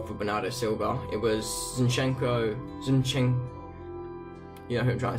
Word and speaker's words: Zinchenko: Yeah, Zinchenko.